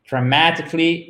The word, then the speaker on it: dramatically: Donc, on a un accent tonique qui se trouve ici. Voilà. Donc, en fait, qui se trouve là, pour être tout à fait exact, sans le T. Donc, ça nous donne dramatically.